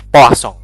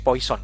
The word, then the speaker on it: Poisson: ya itu adalah distribusi posong membacanya bukan distribusi poisson tentu saja karena polsong ini nama orang Perancis ya dibacanya adalah distribusi eh pocong ya Apa yang disebut